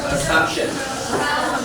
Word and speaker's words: assumption: The stress on the second syllable. So you say what? Assumption.